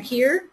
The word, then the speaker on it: Keir: We have Karen Keir, is that how you pronounce that?